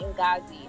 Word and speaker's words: Ngozi: grew up here in Italy and Italians can mispronounce African names like you know so I think I've always went by in gauzy so I've done all types of crazy things